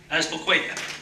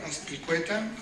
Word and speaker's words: Azpilcueta: a leader in Unite Here, Local 483, Azpilcueta. Thank you, my friend Philip. Hi everyone, my name is Azpilcueta.